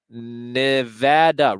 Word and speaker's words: Nevada: is hold on there Nevada rhymes with bada Nevada see that see there